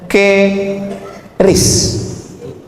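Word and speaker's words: QRIS: mall ditulis ada namanya ke ris q Kris ki. Cara bacanya gimana sebetulnya? Keris. Q-nya quick. Quick artinya cepat. R-nya respons. Kris quick response code.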